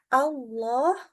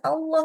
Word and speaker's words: Allah: ya Enggak boleh ya Jadi kita ada caranya membaca Allah itu dengan ditafhimkan atau ditebalkan naikkan pangkal lidah yang kedua kapan lagi